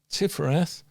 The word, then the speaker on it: Tifereth: And we interesting enough pronounce that tifereth because it's a hard T at the beginning and a soft th at the end even though it's a